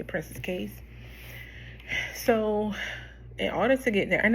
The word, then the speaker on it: Princess Cays: I'm pretty sure it's pronounced Princess Cays, um but a lot of people say Princess Cays.